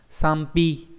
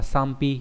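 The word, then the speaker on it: 賛否: Phủ bình thường đọc là hi, thế nhưng mà bởi vì đằng trước tán là có chữ âm ưng, do vậy là nó sẽ biến thành thành gì nhỉ? Thành p, đọc là sam pi, tán phủ nghĩa là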